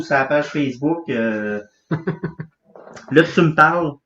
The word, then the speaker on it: Tu m'parles: Là, tu me parles. Ça s'écrit comme ça se prononce.